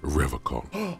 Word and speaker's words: Revachol: He pronounces Revachol with a hard K.